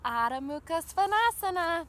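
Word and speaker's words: Adho Mukha Svanasana: our downward facing dog odda mukha svanasana that's how they say it in the ancient Sanskrit text how they named all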